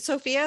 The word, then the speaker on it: Sophia: that way Sophia uh is it Sophia is that the correct way to say your name yeah yeah okay oh I'm so